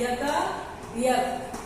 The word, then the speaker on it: एकाएक: एकाएक का होता है यकाएक, है ना। एकाएक नहीं पढ़ते हैं, यकायक।